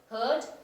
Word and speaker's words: heard: it is pronounced light it's rhyming with the word bird heard bird similarly the word